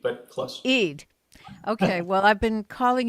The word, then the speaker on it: Eid: Eid, but close. Eid.